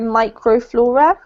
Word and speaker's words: microflora: This one's micro, not micro, microflora. Microflora. Mm-hmm. Yep, this little prefix is always pronounced micro in English.